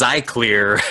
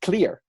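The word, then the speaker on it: Xlear: It's pronounced clear. It's pronounced just clear?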